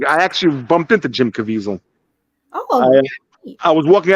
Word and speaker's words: Caviezel: gazelle Canada's alley something like that oh Jim Caviezel yeah yeah he does our Bible study on